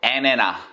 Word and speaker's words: antenna: 이 모든 원인은 바로 애네나. 아니 애를 내놓으라는 게 아니고 발음 좋은 사람들은 안테나를 이렇게 발음합니다.